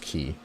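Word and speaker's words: Quay: It's pronounced key.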